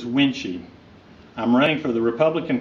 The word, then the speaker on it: Wuensche: my name is winchy pronounced as winchy I'm running for the